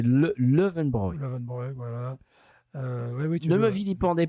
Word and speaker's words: Löwenbräu: Il y a Löwenbräu que je prononce à l'occitan. Apparemment c'est Löwenbräu.